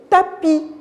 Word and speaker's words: tapis: la lettre s final le tapis le tapis il coûtait bien j'entends pas la lettre e s je la vois les